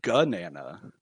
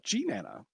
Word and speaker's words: GNANA: actually had a governance vote on the correct pronunciation of this abbreviation for some odd reason there were people who were calling it gun anna uh so we had to settle that by